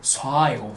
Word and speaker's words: ص: 이건 샤도 아니고 싸도 아니고 쏴예요. 쏴. 차이점 보이죠? 쏴. 샤 아니에요. 쏴예요. 샤 아니고 샤 아니고 알이 붙었어. 쏴.